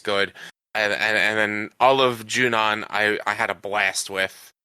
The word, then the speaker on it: Junon: Oh well, I mean, I said I can't even tell you how many times I said Junion and not Junon.